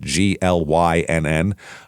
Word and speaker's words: Glynn: Uh this is in Glynn County or Glenn County, however they pronounce it, g l y n n. Um it's Glynn, but some people pronounce that Glenn depending on where you are.